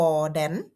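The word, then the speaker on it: hvordan: อ่ะ สุด ท้าย คือ แดน อ่าน ว่า วอ แดน แปล ว่า อย่าง ไร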